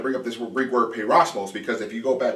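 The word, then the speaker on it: πειρασμός: me make sure I say it right, it's peirosmos. Peirosmos. And the reason this word, I want to bring up this Greek word peirosmos, because if you go back once again to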